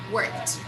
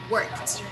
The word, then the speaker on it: worked: to t we jump we don't pronounce e and we don't pronounce d this final two letters